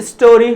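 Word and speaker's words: storey: लिया turn a three स्टोरी house अब देखिए एस टी ओ आर ई Y pronounce like स्टोरी इसका मतलब होता है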